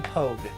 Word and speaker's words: Pogue: And this was a this man was name, if I'm not mistaken, his name was William Pogue. And and Pog spelled like rogue.